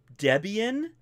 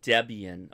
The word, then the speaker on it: Debian: hold on let me do this um it's pronounced Debian it's pronounced Debian okay thank you thanks okay guys I'll to